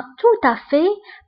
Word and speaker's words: tout à fait: fait بالمناسبة، فهنا عندنا tout à fait ما كنطقوش لا لتر تي اللي كاينه في آخر الكلمة. فانتبهوا جيدا. En fait. Au fait. Tout à fait. Tout à fait. هنا التي ما كنطقوهاش.